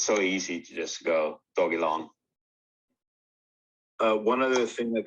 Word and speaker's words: Dogelon: i don't know so on the first website it was announced as dog a long okay so that's how they want us to pronounce it because doge or dog